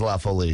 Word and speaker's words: La Folie: folie I'm actually delicious there's always some debate about how to pronounce it but lindo has settled it cuz he's French room well yeah they the way hey I don't know the way they sold it to me was lawfully so cool and that is that is the widely understood pronunciation of it it is a sour